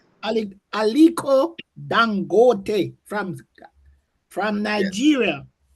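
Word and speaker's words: Aliko Dangote: Is it Damonte from South Africa?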